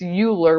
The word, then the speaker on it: Euler: from Leonard Euler so it looks like it's Euler but it's pronounced Euler so he decided to use the